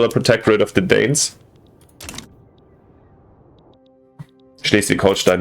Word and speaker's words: Schleswig-Holstein: Schleswig-Holstein, not Schleswig-Holstein. But sorry, I pronounced it a little bit more American or English than I wanted to.